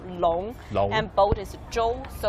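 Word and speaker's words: 龙: Dragon in Chinese is a long, and it's easy to pronounce though, long.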